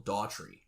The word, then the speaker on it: Dougherty: We're going to get we found out that his name's actually pronounced Michael Daughtry.